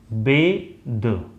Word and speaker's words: bathe: अच्छा एक चीज आपको बता दूं, जैसे ये जो है इसका प्रोनाउंसिएशन होगा बेद। आई am going to बेद इन द river, BATHE ये वर्ब होता है इसलिए इसका प्रोनाउंसिएशन बेद होता है, और BATH इसका प्रोनाउंसिएशन होगा बाथ।